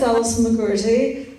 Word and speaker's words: Allison McGourty: And I don't really know how to pronounce her first name, so... My name is Allison McGourty.